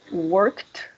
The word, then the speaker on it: worked: Worked. Can you repeat it? Word. Sí, sé que es un poco difícil porque no estamos acostumbrados a decir el sonido KT juntos, ¿no?